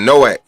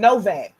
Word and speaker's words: Noak: he say no no we be saying Noak everybody running around here been saying noac I don't seen like five people type no V A it's no a it's no damn but I don't pronouncing his name properly that's the I